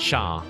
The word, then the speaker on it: chat: In French. Chat. Chat. Shaw. Shaw. Shaw. Shaw. Yeah. It's C-H-A-T, and C-H makes a S-H sound, and they don't say T's Shaw.